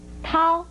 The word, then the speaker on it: 绦: 来的是，绦和涤这两个字都不可以念成条字，就如同小和吊字也不能念成条字是一样的。